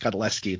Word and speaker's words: Godlewski: you said it, but it's pronounced Godlewski. The W is silent.